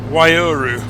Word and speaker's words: Waiouru: Waiouru.